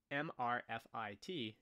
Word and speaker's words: MRFIT: risk factor intervention trial often abbreviated mrfit and pronounced mr fit in this trial which